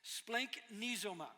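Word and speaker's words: σπλαγχνίζομαι: This is why I write it on my notes phonetically. Splanknizoma.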